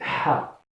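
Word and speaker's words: ح: La deuxième lettre, c'est Ha. Ha, c'est quand je ne mets pas de point. On prononce Ha. C'est une lettre qui n'existe pas dans l'alphabet français. Donc, ils mettent Ha comme un H et ils disent aspirer. Un H aspirer.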